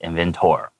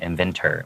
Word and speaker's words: inventor: Alright, inventor, please remember, even though it has an or, it's not pronounced inventor. Okay, inventor, pronouncing it like it has er.